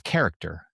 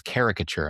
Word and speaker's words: caricature: And I said, you're saying it wrong. It's character. And she's like, no, Joe, it's caricature.